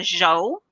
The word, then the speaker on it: Zhuo: your name it's um the official is anna joe kind of like saying joe or joe but i tend to